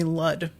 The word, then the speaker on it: Lud: used to call me L rhymes with mud also thud blood crud dud and cud yeah that's a terrible